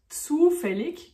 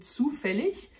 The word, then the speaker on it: zufällig: Zufällig, qui peut aussi se prononcer zufällig, puisque le IG à la fin d'un mot peut se prononcer ich ou ich en allemand.